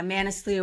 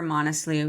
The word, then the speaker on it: Manaslu: Yeah, Manaslu or Monaslu, either. Okay, that's the one I have a hard time pronouncing, but you attempted that Right.